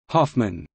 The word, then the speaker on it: Hoffmann: In central Germany, Hessen, the O in the proper name, Hoffmann, is pronounced long, whereas most other Germans would pronounce it short.